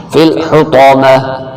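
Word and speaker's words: فِي الْحُطَمَةِ: گے green colour والے۔ فی الحطامہ، یہ پا موٹا کر کے، فی الحطامہ، رومن میں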